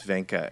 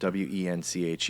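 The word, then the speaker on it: Wenche: we stop doing that my wife's name is Vena it's spelled Wen c h e and and you can imagine the creative pronunciations she gets with that she's super stoked about that but oh yeah W yeah wench she loves that one so I'm sure that's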